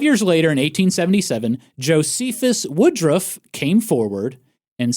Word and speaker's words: Josephus: with a u on the end apparently it's pronounced Josephus not Josephus I heard Josephus okay okay but you know